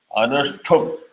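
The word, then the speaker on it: अनुष्टुप्: So it is not anushtup. Anushtup. Yeah, anushtup.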